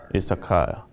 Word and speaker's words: Issachar: It's Issachar.